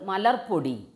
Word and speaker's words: മലർപ്പൊടി: മലർപ്പൊടി എന്നുള്ള ഒരു ചില്ലക്ഷരത്തിന് കൂടുതൽ ഒരു സ്ട്രെസ് കൊടുക്കുന്നുണ്ട് നമ്മൾ അല്ലേ. മലർപ്പൊടി എന്ന് പറയാൻ പറ്റില്ലേ നമുക്ക്, മലർപ്പൊടി എന്ന് തന്നെ പറയണം.